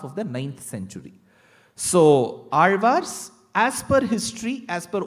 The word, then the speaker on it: Alvar: attempt is only the Alvars. Even before I get into the word Alvar, the word Alvar itself is a task. Because you will have to get the pronunciation of the letter La right.